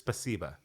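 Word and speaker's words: спасибо: It's, It is spasiba.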